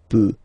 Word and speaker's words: peut: Je peux, tu peut. Then, il, elle, peut. So you will put T at the end, you don't pronounce it.